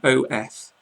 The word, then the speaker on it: of: So back to the top, you see of, the first one, O-F. Phonetically, I would write O-V, of, and then off, where you pronounce, you can really hear the double F there, off.